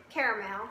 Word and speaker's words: caramel: I kind of hate that I say caramel, but I do. I hadn't wrapped with I do spell it correctly. Yeah. I add the extra A, even though I don't pronounce it.